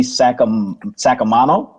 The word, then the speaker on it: Sacamano: actual last name, Mandy Sacamano. That's it. Look, from as an Italian myself, Sacamano is exactly, that's the way to say it.